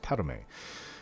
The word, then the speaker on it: Padhome: It's spelt Padhome, but it's pronounced Padome.